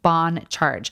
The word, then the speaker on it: Bon Charge: That's spelled in all caps and pronounced Bon Charge.